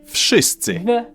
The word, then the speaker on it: wszyscy: the hell they want, in Polish you simply pronounce each sound one after another and you get the word. W, sz, I, sy, cy, I. Wszyscy.